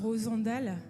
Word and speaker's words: Rosandel: Rosandal. Rosandel. Comme Rosandel. Oui, ouais, Rosandel, ça s'écrit comme ça, mais c'est Rosandal. Ça se prononce comme ça.